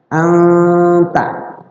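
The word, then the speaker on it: أنتَ: Cara baca samarnya itu adalah ya sedikit agak dengunglah sedikit dengung tapi siap-siap lidah kita ke huruf ta. Anta. Anta sedikit didengungkan.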